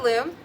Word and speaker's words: loom: It rhymes with moon.